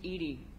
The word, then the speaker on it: EDI: why are you named Ed Ed is the phonetic pronunciation of Eed that is an acronym for enhanced defense intelligence what do you do